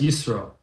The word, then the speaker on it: Yisro: So tonight's class, we're going to talk about Tu B'Shvat and about the parsha, which is Parshas Yisro, or Yitro, depending how you pronounce it, or Jethro, if you go for some English.